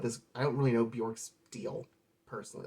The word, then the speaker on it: Björk: it next up is bjork i'm sorry bjec rhymes with jack according to her and uh this is